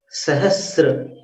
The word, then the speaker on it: सहस्र: संसार, ये उन लोगों का उच्चारण होता है। तो बिंबं वियद विलसदंश लतावितानम, तुंगोदयाद्रि, तुंगोदयाद्रि शिरसीव सहस्र रश्मि, सहस्र, सहस्त्र नहीं है, सहस्त्र है।